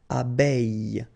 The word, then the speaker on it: abeille: Okay, and then when you combine this I with then you get the sound E. Okay, so technically it does mean that you don't pronounce the I, but it is included in this pronunciation with the so it's E. Okay, so you get this abeille, abeille, and then oreille, oreille.